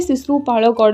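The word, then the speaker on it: ଶିଶୁପାଳଗଡ଼: ये है सिसु पाड़गड़। ये हमारी उड़ीसा की है, इसलिए मैं हिंदी प्रोनाउंसिएशन में इसे नहीं बोल रही हूँ, ठीक है।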